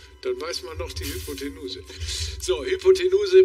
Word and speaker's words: Hypotenuse: Oh, ich dachte, es kommt Rechtschreibung, aber es ist sogar Aussprache. Hypertenuse, Hypotenuse oder Hypotenose. Das ist... Hyper. Ja, das ist easy. Kann ich mich noch gut dran erinnern. Die Hypotenuse, ne?